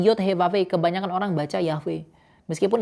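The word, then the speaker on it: Yahweh: Yod hevave itu Yahwe dibacanya ya sebenarnya dibacanya bukan Yahwe tapi Yod Hevahve.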